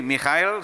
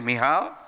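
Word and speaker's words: Michal: watched from a window some of you say mikhail some people say mihaw okay this is the original way of pronouncing it and when she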